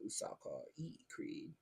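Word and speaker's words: Ursarkar E. Creed: But then there's like the Fall of Cadia, Creed, General Usaka E. Creed. That's the only way you say that. If you don't say it that way, you're saying it wrong.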